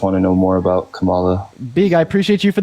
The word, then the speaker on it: Kamala: out her policy also her name is pronounced Kamala not Kamala sorry I know you